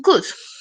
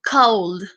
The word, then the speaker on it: could: Ahora vamos con could. Could se dice could, no se dice cold. No se dice cold tampoco, se dice could. Como si acá hubiera solamente una U y la L no tuviera sonido.